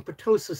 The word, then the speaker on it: ptosis: I'm not having a lift I'm having ptosis surgery. It's spelled PTOSIS.